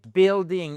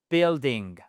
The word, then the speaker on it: building: Donc là vous avez size, age, color, origin, material et ensuite vous avez building et non pas building. première syllabe, c'est tout ça et le U ne s'entend pas. D'accord ? Building alr.